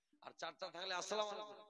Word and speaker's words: আসসালামু আলাইকুম: ওর দাদি ওর নানি শিখিয়েছে একটা লোক থাকলে সালাম আলাইকুম, আর চারটা থাকলে আসসালামু আলাইকুম। না মুসলমান, সালাম আলাইকুম সালামই নাই। সালামের শব্দ উচ্চারণ হবে আসসালামু আলাইকুম।